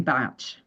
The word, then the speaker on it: Bach: But I get, this gentleman pronounced his name Batch for oh, that. reasons that I don't Oh, understand. But he was Welsh, and he was known to pronounce it Batch. So there are people all over the world who say it in both different ways.